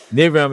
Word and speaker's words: Nivram: Nivram is my name spelled backwards.